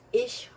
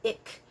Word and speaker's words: ich: off letters so it's ich by the way c h sounds are going to be pronounced as ish so the the word for i is it's not ik is actually dutch so